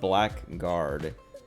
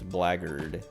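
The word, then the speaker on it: blackguard: you see the word black guard and you would read it like every time i read it i read it black guard but i know when i say it it's blaggered uh just weird i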